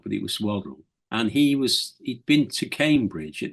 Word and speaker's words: Waddell: I was friendly with a chap called Sid Waddle, or some people pronounced it Waddell, but it was Waddle.